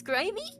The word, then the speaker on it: Grimmi: People say my name is Grimmi. The alternative the alternative that people call me usually with my pronunciation is Grimy.